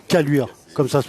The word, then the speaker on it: Caluire: Caluire. Caluire. Comme ça se prononce.